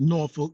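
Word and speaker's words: Norfolk: Virginia got down here found out it was pronounced norol n o r f u c k um but got down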